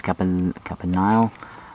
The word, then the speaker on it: Campanile: Mark's Basilica, St. Mark's Campanile, that's how you pronounce it, St.